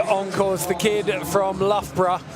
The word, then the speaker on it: Loughborough: Okay, Cam Peak on course, the kid from Loughborough. If you saw this written down, Chris, you might struggle to say it. Most Americans see it as Luga Baruga. But it's spelled L-O-U-G-H, B-O-R-O-U-G-H.